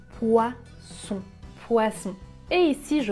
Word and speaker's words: poisson: entre ces deux fonds poissons oiseaux ici je n'utilise pas la voix mais quand je prononce le sont j'utilise la voie était ça la différence poisson poison